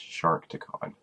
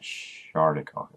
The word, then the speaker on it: Sharkticon: It's meant to be pronounced Sharkticon, not Shardicon.